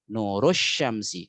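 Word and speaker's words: نور الشمس: syamsun itu adalah matahari nurussyamsi karena alif lam nya Syamsiah maka cara bacanya juga dengan kaidah Syamsiah nurussyamsi Ya seperti Syamsu itu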